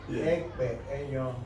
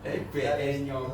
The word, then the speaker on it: Ekpenyong: Monsignor Michael Ekpenyong. Did I pronounce it well? Oh, you did. But if you want to help in our localism, Ekpenyong. Ekpenyong.